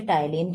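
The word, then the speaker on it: ptyalin: Enzyme जो मुख के अंदर सलाइवा यानी लार में पाया जाता है उसे टाइलीन कहते हैं। टाइलीन का स्पेलिंग पी से शुरू होगा। आप लोग पी को साइलेंट रखिएगा।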